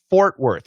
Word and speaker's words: Fort Worth: Fort Worth. We keep both the R's, Bernard. Fort, get that or, and were. So the ORs are different.